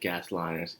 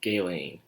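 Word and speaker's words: Ghislaine: wrong the entire time turns out the s is silent her name and guy lying i would say gas liners on guest line or something like that but no it's it's gay lane the scaling i didn't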